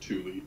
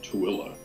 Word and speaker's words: Tooele: There's a place in Utah that looks like you would pronounce it Thule, Toole, but it's actually pronounced Tooele.